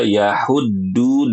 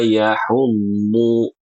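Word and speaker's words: يحض: Ayat yang ketiga di sini ada kata yahudu, yaitu dengan huruf dad. Banyak orang baca yahuddu dengan huruf dal. Ya, ini namanya mengganti huruf harus dengan wala yahudu. du du bukan du du keliru.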